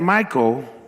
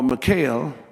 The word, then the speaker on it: Michal: killed Goliath and had Michal, or Michal, however you want to pronounce it, to become his wife, go to 1 Samuel.